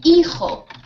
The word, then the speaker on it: hijo: La H no se pronuncia. ¿Sí? We don't pronounce it. We don't pronounce it. Por ejemplo, en hijo. A son, ¿vale? Hijo. Hueve. What's hueve? Do you mean huevo? Egg. Yeah, no, just example. Oh, sí, sí. Huevo. Egg, okay. Egg. It was just example. Egg. Exacto, ¿vale? Sí. An egg, a son, huevo, hijo. ¿De acuerdo? We don't pronounce the H.